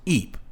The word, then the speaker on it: Ypres: It's spelled weird, I know, but it's pronounced Eep.